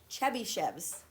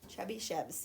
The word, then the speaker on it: Chebyshev's: You want to try to pronounce that? Chebyshev's. Chebyshev's.